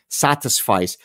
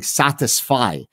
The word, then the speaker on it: satisfice: So someone who is a satisficer, and people oftentimes, even my students, when I say satisfice, they think I'm somehow mispronouncing satisfy. No, it's satisfice, which means it's good enough, right?